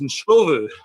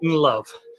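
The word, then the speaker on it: Ndlovu: So I think Barry Davis was the only one who actually tried to pronounce his name correctly, because actually it's Nshovu, or closer to that. It certainly wasn't Unlove, but as soon as he became Peter Unlove, and it's an interesting point, or is it?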